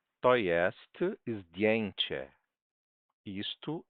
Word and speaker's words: zdjęcie: To jest zdjęcie. Isto é uma foto. To są zdjęcia. Estas são fotos. Zdjęcia. Zdjęcie. Certo? D, bem pronunciadinho. D. Certo? Ó, DI, o J é um I.